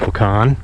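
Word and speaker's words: Wahkon: by side hi everybody I'm in wakan I think it's pronounced pecan Minnesota the banks of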